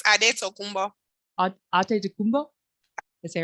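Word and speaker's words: Antetokounmpo: How do you pronounce it? The actual before we became Greekified? It's Adetokunbo.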